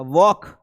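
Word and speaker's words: walk: वॉक यहां पे L silent आ जाएगा।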